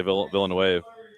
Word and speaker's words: Villeneuve: Gary, well, actually, I'd still say Villeneuve. Villeneuve. What'd you say? Villeneuve. Villeneuve. French? Originally, I'd say so.